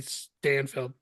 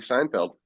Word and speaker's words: Steinfeld: over the bills bye Haley Stanfield Haley Stanfield that's our um young Kate Bishop Haley Steinfeld Haley Steinfeld yep yes Steinfeld pronunciation don't matter and I only know